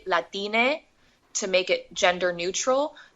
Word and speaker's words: Latine: So Latinx, or sometimes it's pronounced like an E, Latine, to make it gender neutral.